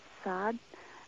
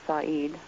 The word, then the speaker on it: Said: I think the family pronounces it Saad, but Saad. Yes, Okay. but I think on our side and amongst the American family, we have always pronounced it Said, and Okay. so I'm not really sure about that, but I'm pretty sure it is Saad.